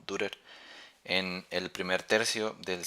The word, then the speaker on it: Dürer: un tal Albrecht Dürer, creo que así se pronuncia la U con diéresis, Dürer o Dürer, en el primer tercio del siglo XVI.